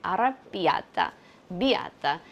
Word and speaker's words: arrabbiata: Arabia biata supposed to be on the B.